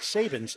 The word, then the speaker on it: Sabins: It's pronounced Sabins.